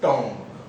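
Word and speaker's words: tomb: तो मकबरा या टॉम्ब, टूम्ब भी बोलते हैं इसको, सही प्रोनाउंसिएशन एक्चुअली टूम्ब ही है, लेकिन हम लोग टॉम्ब बोलेंगे ताकि स्पेलिंग में गलती ना हो।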